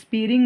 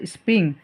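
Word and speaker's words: spring: সিজনটা ঋতুটা আছে সেটা আমরা সাধারণত স্পিয়ারিং বলি কিন্তু আসলে এই সঠিক এই উচ্চারণটা সম্পূর্ণগত ভুল যেটা আমরা সঠিক উচ্চারণ করব সেটা হচ্ছে স্প্রিং সেটা হচ্ছে বসন্তকাল সো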